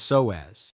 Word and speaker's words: psoas: It is called the psoas, pronounced so-as.